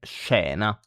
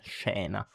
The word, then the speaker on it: scena: So when SC, sh, is followed by E or I, E or E, you say it like SH in English. So she, for example, no?